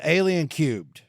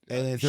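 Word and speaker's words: Alien³: So the movie we're doing today is Alien Cubed. And is that how you say it? It's Alien 3, sure. Alien Cubed. I mean, to the third power.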